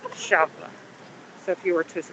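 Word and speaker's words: Eixample: Champla looks like in English the word example, but it's pronounced Champla.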